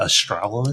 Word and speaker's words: Astralis: It looks like Australia, but Astralis.